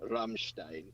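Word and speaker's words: Rammstein: they are a german band so it's always pronounced ramstein it's just fun to say it that way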